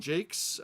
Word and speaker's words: Jacques: You've got other ones like Brian Jakes. We have the Brian Jacques. Well, he's from Liverpool, so he pronounces it Jakes.